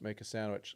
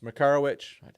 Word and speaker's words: Makarowicz: I used to call him Alex Make a Sandwich. It's Makarowicz.